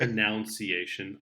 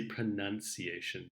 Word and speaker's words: pronunciation: saying no use it announce iation I say pronunciation that's the correct form okay okay sure also